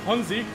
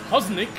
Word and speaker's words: Hanzi: On both of the list, my name is mispronounced. Like on on one race my name instead of Hanzi, it's Hosnik and on I racing it's probably Hosnik.